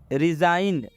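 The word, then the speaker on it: resign: एन आया है next रिजाइन रिजाइन रिजाइन में भी जी के बाद एन आया है मतलब जी का उच्चारण नहीं करना है जी को हम लोग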